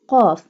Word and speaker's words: ق: أعوذ بالله من الشيطان الرجيم بسم الله الرحمن الرحيم قل أعوذ برب الناس Qaf. Qaf pronounced boldly. Qaf pronounced by touching the tongue from the soft part of the palate.